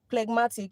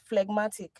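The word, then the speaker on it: phlegmatic: Yesterday I was pronouncing it as plegmatic. It's not plegmatic. It's flegmatic.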